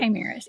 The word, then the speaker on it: chimeras: these, I always get the word, I always mispronounce it, chimeras. Is that right? Chimeras, yeah.